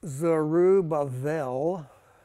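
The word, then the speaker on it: Zerubbabel: Joshua the high priest so zorobabel pronounced zerubabel with a it's a soft B uh means born at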